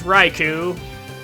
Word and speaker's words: Raikou: You thought I was mispronouncing Raichu when I said Raikou? No, this is Raikou from Generation 2.